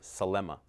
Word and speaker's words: Selema: And he was like, it's just that it's so hard to say these 3 syllables, Selema.